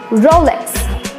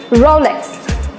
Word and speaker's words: Rolex: about this Rolex brand so how you can pronounce it it is draw legs come on speak with me Rolex Rolex yes that's very correct here comes the next